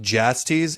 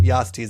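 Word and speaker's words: Jastes: By the way, it's pronounced Jasties in the audio book, but Yastes is way more fun.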